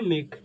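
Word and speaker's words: make: ठीक लिखिए नोट कीजिएगा यदि किसी वर्ड के अंत में ई आता है तो ई साइलेंट रहता है क्या होता है साइलेंट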